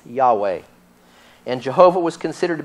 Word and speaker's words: Yahweh: But according to Unger, the strong possibility is that the name Jehovah was anciently pronounced Yahweh.